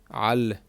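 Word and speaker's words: על: Al. This is a patah. Al. And remember, we treat this letter as a guttural letter. It is produced in the back of the throat.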